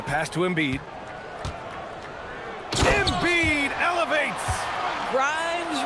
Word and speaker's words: Grimes: Grimes rhymes with dimes, on time right there.